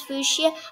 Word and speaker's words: Fuchsia: yeah fuchsia i don't know what how you pronounce fuchsia i'm gonna go look it up and yeah